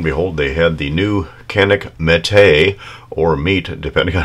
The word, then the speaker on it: Canik: But on the Canik website, and by the way, they do on their website pronounce it Canik, but anyway, they call